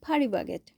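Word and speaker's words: Paris Baguette: কেকটা কিনলাম এটা হচ্ছে পারিশ বাগেট আমরা কোরিয়াতে কোরিয়ান উচ্চারণে বলি ফারি বাগেট ফারি বাগেটে চলে গিয়েছিলাম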